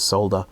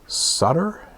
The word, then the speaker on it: solder: under the soldering iron apologies to anyone who's listening to this who pronounces solder Sutter it's obviously solder or solder depending on which part of the world you're from I'm from